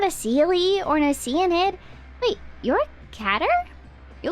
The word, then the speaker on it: Oceanid: Maybe a small Oceanid?